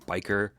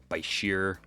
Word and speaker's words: bichir: Yes, there's tons of debate on how to pronounce bichir. Anything from biker, bichir, and of course, bichir. I call them bichers, so get over it.